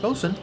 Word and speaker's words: boatswain: I'd make a great bosun. Exactly what Oh, it's pronounced qualifications bosun?